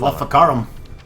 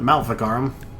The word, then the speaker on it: Maleficarum: I was pronouncing that all wrong. You go first. I will find Maleficarum. Not Malikarum.